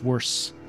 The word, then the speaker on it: worse: That's not how you say it. It's worse. There's no th in that.